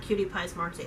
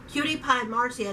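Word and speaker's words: CutiePieMarzia: I said cutie-pies Marcia it's not cutie Pie's marks it's cutie pie Marcia that was her channel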